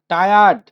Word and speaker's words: tired: না ট্রায়াড We না, are বাবা এটা ট্রায়াড না, টায়ার্ড। উচ্চারণ হচ্ছে we টায়ার্ড।